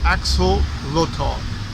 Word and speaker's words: axolotl: It's pronounced axolotl, is a Mexican species of salamander.